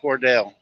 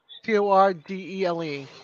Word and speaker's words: Cordele: I think it's Cordell. You guys know I'm bad with words. Cordele.